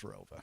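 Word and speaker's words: ROWVA: There was an additional town added after I graduated, but it's always been pronounced as Rova.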